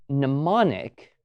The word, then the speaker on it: mnemonic: That's where we get words like mnemonic, which for some reason have an extra M before the sound of the N.